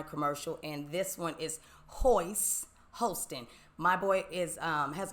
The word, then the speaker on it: Hoist: up hoist it is hoist but I said it rhymes with moist hoist hoist so no but